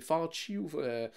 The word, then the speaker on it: Fauci: Le docteur, je me souviens jamais comment prononcer son nom, là, mais c'est Fauci, qui est comme Ouais, Fauci, c'est ça.